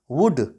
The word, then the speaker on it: would: हैं, इसको हम पढ़ते हैं कुड, क्योंकि एल साइलेंट है। अगला एग्जाम्पल है हमारे पास वुड।